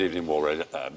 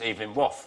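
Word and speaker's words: Evelyn Waugh: Of course he did, Evening War, Brideshead.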